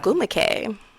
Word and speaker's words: Ogwumike: Ogwumike.